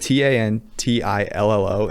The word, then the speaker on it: Tantillo: His name is spelled Tantillo, and he pronounces it Tantillo.